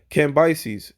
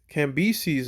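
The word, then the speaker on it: Cambyses: in the first verse cambises can be sees or cambises depend on the pronunciation he actually reigned from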